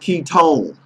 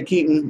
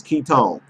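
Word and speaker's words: Kiton: It's pronounced Ketone. I say Keaton, but it's Ketone.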